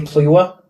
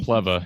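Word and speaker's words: Plewa: second string and johnny pliwa is the third string yeah it actually pronounced plebba and if you remember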